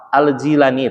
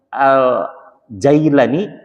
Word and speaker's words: Al-Jilani: Al-Jilani itu satu kampung yang namanya terletak di Iran. Ya, Irak, mohon maaf, di Irak ya. Jadi bacanya ada yang Al-Jailani, Al-Jilani, Al-Ghilani, Al-Gilan gitu ya.